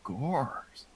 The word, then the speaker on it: Goers: our list is gore's if i pronounce that right yeah yeah kind of like church goers and moviegoers or coco goer you just summarize the